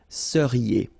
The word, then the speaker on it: seriez: Vous seriez. So here when you've got this EZ at the end, then you get the sound E, seriez.